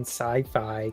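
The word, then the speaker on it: Syfy: series that aired on sci-fi created by Carl Schaefer and Craig inler the way you said sci-fi wow it's spelled sy yfy so how else would you say it SciFi SciFi it's like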